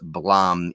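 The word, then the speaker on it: Blame!: this book here which apparently is pronounced blam even though it's uh spelled blame um and he just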